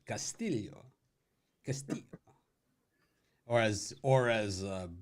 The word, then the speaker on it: Castillo: can break out our Spanish accents here steel pronunciation Castillo or as or as uh Butler would call him I like doing Costello's pitching yeah I like the way this Louis